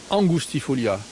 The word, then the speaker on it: angustifolia: Le nom latin, Filaria angustifolia. Ça s'écrit angustifolia. En latin, on prononce le U, on prononce OU. Angustifolia.